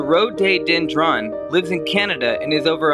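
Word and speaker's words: rhododendron: more video subscribe Europe this tree pronounced the road day dendron lives Canada and is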